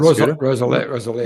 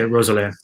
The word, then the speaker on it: Roeselare: LS Cav Racing Crit Tuesday in where is pronounced that? Roeselare. Yeah, Roeselare.